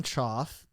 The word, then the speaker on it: Choff: Uh, so for those who don't know, I'm Choff. C H O FF is how you spell it.